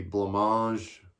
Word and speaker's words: blancmange: Well, I had a hard time with that, so it's going to be blancmange, orange, right? If you're saying orange in French, and it's blancmange, happy families.